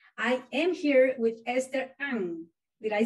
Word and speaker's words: Ng: And today I am here with Esther Ang.